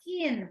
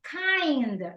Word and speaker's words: kind: You said, I am a keen person. Kind is the right pronunciation.